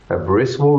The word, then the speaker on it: Abrysvo: FDA ने इसको approve किया और इसको ABRYSVO कहते हैं, ब्रिस्वो भी कह सकते हैं, और जैसे मैंने आपको प्रोनाउंसिएशन अभी बताई।